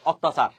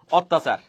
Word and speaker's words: অত্যাচার: যদি জ ফলা থাকে যেমন অত্যাচার অত্যাচার এখানে অত্যাচার শব্দের মধ্যে ত কয়টা একটা কিন্তু উচ্চারণ করি কয়টা দুইটা ঠিক আছে যেমন নিত্য